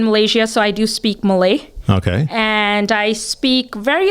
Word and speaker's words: Malay: Okay, so we've got Hindi, Bengali, Mali. What was the other one? Malay. Malay was Malay. Yes. Malay. Sorry, I mispronounced that.